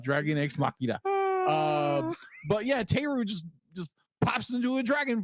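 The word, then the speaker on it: Therru: How do you pronounce her name? Teru? Yeah, Teru.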